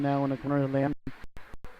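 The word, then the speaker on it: Lamm: Tracking it down now in the corner of Lamb. Lamb, L-A-M-M. First M is silent.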